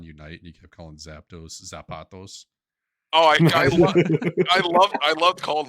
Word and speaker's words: Zapdos: So, it's just pronounced like lactose. Zapdos? Zapdos. Isn't there an A in there? No, Zapdos. No.